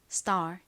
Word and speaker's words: star: 의미하는 단어로도 사용이 되죠 S 바로 뒤에가 와서가 좀 된 소리로 쌍디귿 럼 발음이 됩니다 st star 이렇게요 떠오르는 스타 따라해 보세요